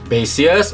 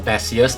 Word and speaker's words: Baseus: So it's the Type-C hub, band angle number 7 from Baseus or Baseus, depending. Some people pronounce it differently.